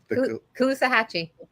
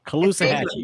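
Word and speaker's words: Caloosahatchee: How do you pronounce it? Calusahachi. Calusahachi.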